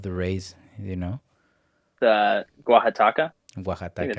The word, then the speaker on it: Oaxaca: The Oaxaca.